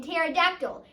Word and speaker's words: pterodactyl: Like, what is the need for T in tsunami or P in pterodactyl? It just makes no sense.